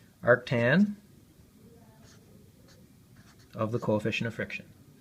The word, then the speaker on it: arctan: equal to the inverse tan well actually it's pronounced arctan arctan of the coefficient of friction